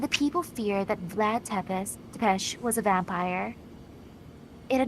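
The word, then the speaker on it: Țepeș: Yes, the Wallachia region of Romania was once home to the feudal lord Vlad Tepes. I believe it's pronounced Tepesh. Oh, Tepesh.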